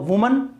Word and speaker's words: women: ये सिंगुलर है, एक औरत है तो वुमन, और ये प्लूरल है। तो ध्यान रखना, यदि WOMAN है तो उसका प्रोनाउंसिएशन होगा वुमन, और WOMEN है तो इसका प्रोनाउंसिएशन होगा विमेन।